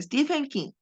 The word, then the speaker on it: Stephen King: de la niebla de Steven King así se pronuncia Stephen King después de la lectura en voz alta se